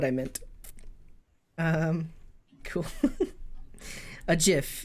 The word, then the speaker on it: gif: meant um cool a gif yes with a soft G that's exactly how it's pronounced honestly um is there